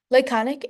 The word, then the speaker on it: laconic: Laconic is pronounced with an emphasis on the second syllable of the word.